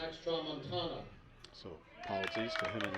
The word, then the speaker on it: Tramontana: So we just got a correction on the pronunciation over at DH. It's Tramontana. Tramontana, excuse me. Max Tramontana.